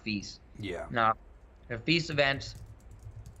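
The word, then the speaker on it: FISE: You know, everybody in America calls it FIs, but it's pronounced feast.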